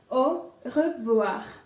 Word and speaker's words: au revoir: 2 R's in it, and both of them are pronounced. So you will really have to put an effort to try and pronounce the word.